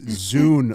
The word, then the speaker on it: Zune: Zune? Zoom. Zune. Zoom, like Zoom. Zune. Oh, it was a No. Zune? It's Zune, like Dune with a Z.